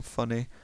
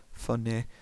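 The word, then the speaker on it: Funneh: funny but f-u-n-n-e-h so it sounds like it's like a northern english person saying funny funny uh looks like they're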